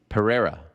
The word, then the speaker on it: Pereira: I was talking to our old boss, Glenn, and Glenn also let me know Pierre is not right. But isn't it Alex Pereira? No, it's Pereira.